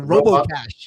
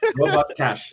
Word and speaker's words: Robot Cash: Robbo cash or Robo Cash. Robot. No, it's two separate words. It's not robo otherwise. There's a T. Pronounce the T. It's not a silent T. Robot cash.